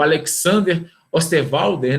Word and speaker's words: Alexander Osterwalder: Então, Canvas foi aí um dos precursores de Canvas, foi o Alexander Osterwalder, né, que é a pronúncia correta do nome dele.